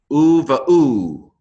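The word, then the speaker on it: וּבָאוּ: Number 2, u-va-u. No dogish, so it's a v sound.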